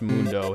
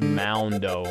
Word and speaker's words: Moundo: I just realized, I don't think it's supposed to be pronounced Mundo. It's supposed to be pronounced Moundo, because he's a mound of rock.